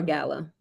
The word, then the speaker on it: gala: Is it gala or gala? I think it depends on the person. It all depends. I've heard it pronounced both ways.